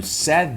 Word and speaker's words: said: Say no passado fica como? Muda um pouquinho a pronúncia. Fica said. Said.